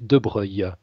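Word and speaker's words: Broglie: particulièrement Monsieur le Duc de Breuil ça s'écrit de Brogli il y a une subtilité mais ça se prononce debreuil alors licencié en lettres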